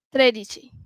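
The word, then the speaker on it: tredici: Okey next 13 tradici.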